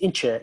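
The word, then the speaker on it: İnce: think of as cameron ins who who has been here for um which is pronounced incha in turkey uh who's done lots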